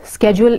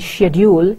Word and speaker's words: schedule: the words are caption schedule schedule is the American pronunciation and shedule is the British pronunciation Breann the fourth word